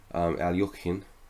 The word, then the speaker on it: Alekhine: to say it and try to pronounce it close to a traditional Russian way Alyokhina it's it's an opening